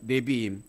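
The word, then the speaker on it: נביאים: 네비임, 니은 받침이죠.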